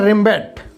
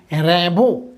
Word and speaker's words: Rimbaud: এখানে উচ্চারণটাই আর্থার, অনেকে উচ্চারণ করে রেমব্যাট, কিন্তু ফ্রেঞ্চ ভাষায় এটার প্রনাউন্সিয়েশনটা অ্যাকচুয়ালি রেমব্যাট না, র্যাবো।